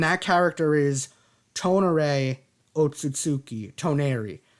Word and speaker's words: Toneri: Toneri. I butchered his name in the last video. Please forgive me. I said Tomura because I'm currently watching My Hero Academia Season 6.